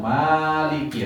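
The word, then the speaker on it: مَالِكِ: Maliki yaum, Maliki nah niki mimnya panjang ngoten nggih.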